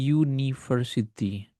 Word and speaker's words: university: Karena pengucapannya university. Nah, U itu menggunakan huruf konsonan. Jadi suaranya, bukan tulisannya.